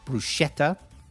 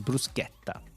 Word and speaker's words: bruschetta: All English people say bruschetta. Yeah, but it's not. It's bruschetta. Bruschetta. It's Italian. Say it right.